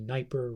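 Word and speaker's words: Dnieper: river it is the niper river the D is silent sniper so apologize for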